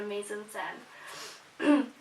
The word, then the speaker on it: mise-en-scène: go on to choose many aspects for the mise-en-scène.